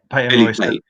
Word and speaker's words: Peyton Royce: Then they split up Peyton Royce, or is that you say her name? Patton Royce? Peyton Royce.